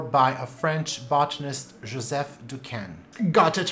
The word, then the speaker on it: Duquesne: It was described in 1844 by a French botanist, Joseph Duquesne.